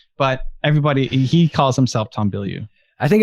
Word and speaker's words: Bilyeu: Which is actually how you pronounce it, because it's a French name, and I'm from Canada, and French is our second language.